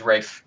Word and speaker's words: Ralph: fines F fines yeah yeah his name is Rafe Rafe as in like pronounced weird yeah yeah finds he looks like